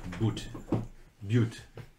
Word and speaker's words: butte: B-U-T-T, but you pronounce it B-Y-O-O-T. Butte. Butte, actually.